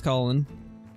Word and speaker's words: Colin: I'm guessing like colon or something like that. Second I saw it, I knew it was Colin.